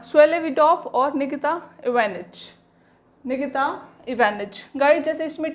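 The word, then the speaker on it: Ivanitch: हैं, स्वेलेविडॉफ और Nikita इवानिच। Guys, जैसे इसमें टी साइलेंट था, स्वेटलेविडॉफ नहीं, स्वेलेविडॉफ। इसमें इवेंटिच नहीं है, इवानिच, इसमें भी टी साइलेंट है।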